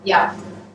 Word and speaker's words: Jaap: Jaap. Where are you from? The Netherlands originally. Netherlands, okay. But he's representing Middlesex for us, Middlesex University, so welcome to Cairo University. And Professor Jaap will be talking about introduction to theorem proving with COC.